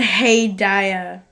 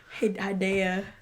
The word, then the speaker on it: Hedaya: Dan Hedaya. Spell it. Hedaya.